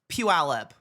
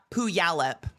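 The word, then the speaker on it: Puyallup: It's Puallup, not Puallup.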